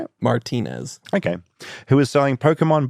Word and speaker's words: Martinez: Martinez.